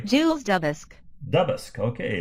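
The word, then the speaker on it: Duboscq: that's pronounced uh here we go jules let's pronounce his name correctly jules doubles dubask okay it's a double colorimeter and the modern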